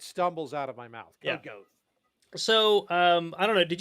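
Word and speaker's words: Codecov: There's a company called, I think it's pronounced Code Cove.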